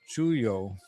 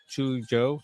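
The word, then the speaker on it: chullo: Chuyo. And because of the two L's in Spanish make a Y sound like Yah or J sound like John or it's not J. John. Chujo. Chuyo.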